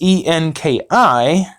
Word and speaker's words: Enki: Then if you go and you read the book of Enki, which is pronounced Enki, that will actually put more of the pieces